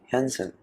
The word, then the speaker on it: Hyunsun: It's me, Hyunsun. Yes, that's how you actually say my name.